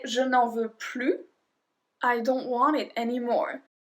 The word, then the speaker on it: plus: Well, then we don't pronounce the S. It's a general explanation. There's more than just that, but remember this. If you want more, it's plus. If you don't want it anymore, it's plus.